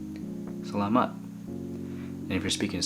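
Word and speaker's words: salamat: speaking with me and so the way to say that is Salama Salama and if you're speaking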